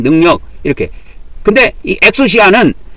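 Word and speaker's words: ἐξουσία: 그래서 이걸 엑수시아라고 읽습니다. 엑수시아. 그렇게 읽어요.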